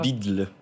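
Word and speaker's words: BUIDL: on le prononce voilà bidle comment bidle voilà c'est en référence au fameux Odle sur Bitcoin on inverse le D et le l voouaà impr prononçable mais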